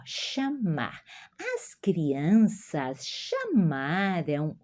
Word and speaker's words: chamar: Ah, ó, esse o ch é como o X que começa, tá? Na a pronúncia, ó, chamar.